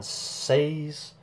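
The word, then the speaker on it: Saaz: Simcoe, Cascade, Sapphire and Saz, and the Whirlpool hops are Saz or Saz, whichever you want to pronounce it.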